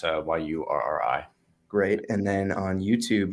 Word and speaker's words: Urry: spelled phonetically correct there, so it's Yurri.